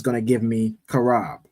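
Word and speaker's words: חֶרֶב: It's going to give me Karab, right? That's the most common word for sword. That's the word you would use. Okay. They pronounce it Khereb.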